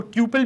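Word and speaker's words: tuple: Next हम देखने वाले हैं टपल, और कुछ लोग इसको ट्यूपल भी कहते हैं, तो व्हाटएवर आपको जो भी सही लगे प्रोनाउंसिएशन। तो मैं तो इसको टपल बुलाता हूँ।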